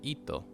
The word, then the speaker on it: hijo: H is silent, so it's ito.